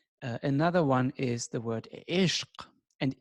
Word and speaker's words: ishq: Another one is the word ishq. And ishq, or as you pronounce it in Persian, ashq, ashq, or in Turkish, ashk.